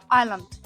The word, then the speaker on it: island: Island. Молодець. Правильно прочитала. До речі, S не читається, хоча пишеться Isceland.